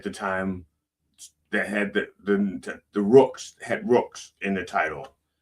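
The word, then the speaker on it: Ruhks: became Band of Rooks, R-U-H-K-S, Rooks, with two syllables, okay. Basically, it's just how you say Rooks after you've had a few drinks.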